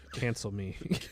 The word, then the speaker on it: Cancelmi: Yeah, The actor's name is Louis Cancelmi? Cancel me. It literally is spelled cancel me.